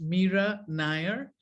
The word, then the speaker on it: Nair: And Adam, if I may, my name is pronounced Mira Nair, like fire. Right. Rhymes with fire.